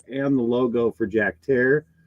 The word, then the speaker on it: Herer: know like Jack hair I always pronounced it Herrera which was wrong and I was told it's hair like Terror so my Jack Herer is Jack Terror and he's a [